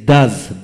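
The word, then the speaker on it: does: তারপর আসেন ডু, ডু ও ইএস, ডাজ, ডাজ।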